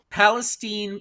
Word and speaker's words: Palestine: Palestine. It's pronounced Palestine, but it's Palestine, Ohio.